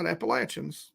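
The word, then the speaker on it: Appalachian: here you know the appalachin that's right appalachin that's how it's pronounced is uh you know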